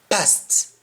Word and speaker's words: past: was abroad once yes passed past how do you say past you say pass you don't pronounce the t and an example somebody